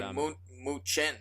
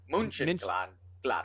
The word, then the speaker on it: Mönchengladbach: I would say München because I'm American. Mönchengladbach. Yeah, Mönchengladbach. Yeah, that's right.